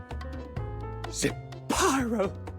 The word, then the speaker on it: Zepyro: Zepyro, 3 syllables of pure poetry.